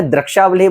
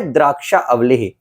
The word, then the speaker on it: द्राक्षावलेह: Company का है द्राक्षाह इसका नाम ध्यान से सुन लेना पूर्व में हमने दक्षावलेह बोल दिया था तो कई लोगों ने ऑब्जेक्शन उठा दिया था कि भाई वैद जी ये थोड़ा सा आपका उच्चारण गलत है। तो इसका है द्राक्षा अवलेह।